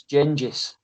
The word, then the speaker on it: Genghis: even pronounce it correctly what do i say genghis is genji's oh